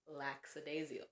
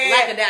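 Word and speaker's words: lackadaisical: piece is very much laxidasial. Hello laxadasical lacadasical lacadasical. Yeah lacadasical. I said it wrong the first time and so then it it also informed how you were pronouncing it just then.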